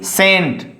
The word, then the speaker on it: scent: C scent. There is C is silent.